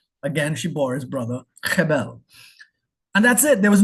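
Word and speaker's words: הֶבֶל: It's pronounced Hebel. Stronger first part, right? Hebel. It's a little guttural piece. So it's not Hebel, it's Hebel. We've not been pronouncing Abel right. I know in Trinidad we would say Abel or Abel. It's not Abel. Hebel. The second syllable is a lot lower.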